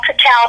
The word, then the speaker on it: cacao: But literally, it is made with dates, cashews, almond milk, raw cacao powder, which all my clients know I pronounce it cacao, so people know how to spell it.